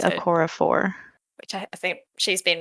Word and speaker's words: Okorafor: Akata Woman How do by you Nnedi pronounce her? Okorafor.